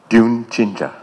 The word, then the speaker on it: 듄친자: The spelling would probably be C-H-I-N-J-A, so Dune Jinja.